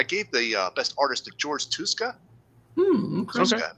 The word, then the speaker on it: Tuska: here but I gave the best artistic George tuska um pronounce that right Jessica yep so I went